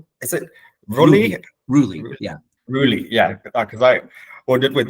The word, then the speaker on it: Rulli: joined by is it Ry Ry yeah Ry yeah because I wondered with the pronunciation for that and um I should be